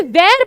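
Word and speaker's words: vert: with ए लगा दिया जब हमने वीर बोला तो टी की प्रनंसीएशन नहीं की क्योंकि मैंने आपको बताया था लास्ट कॉन्सोनेंट को प्रोनाउंस नहीं करते लेकिन जब लास्ट कॉन्सोनेंट के पीछे क्या ग जाए वावेल ग जाए तो हम उसको प्रोनाउंस करते हैं वेयर का हो गया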